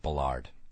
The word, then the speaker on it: Ballard: It's pronounced Ballard.